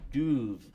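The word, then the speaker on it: dubh: which comes from D-U-B-H, which is pronounced duv with the V.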